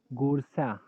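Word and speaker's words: Goursat: First read Gore and then Sat. In some people don't pronounce this T also. Gorsa.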